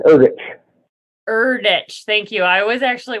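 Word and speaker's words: Erdrich: Native American literature and I think Louise pronounces her last name erdich thank you I was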